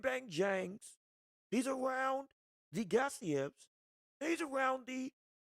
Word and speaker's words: Gassiev: Then you got Gassiev, well, I'm saying his name wrong. It's not Giasov, Gassiev, Joseph Parker, and then Moses Atalma.